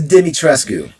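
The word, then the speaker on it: Dimitrescu: ladies done i think i think it's dimmy trescu that's how you say it i swear i call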